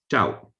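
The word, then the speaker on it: ကျောက်: is written glo bloc in modern burmese is pronounced tau and it means stone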